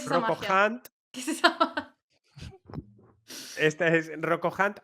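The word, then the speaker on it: Rocco Hunt: This is Rocko Hunt or as they say in Italy, Rocko Ant, because they don't know how to pronounce the H in English.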